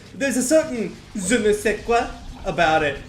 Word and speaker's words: je ne sais quoi: If you know it's pronounced je ne sais quoi in French, you should just say it as je ne sais quoi, you know?